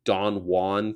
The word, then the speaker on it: Don Juan: Isn't it weird that the guy who wrote Don Juan pronounced it Don Juan because he didn't like the way, English people, they don't pronounce Juan. They don't do that.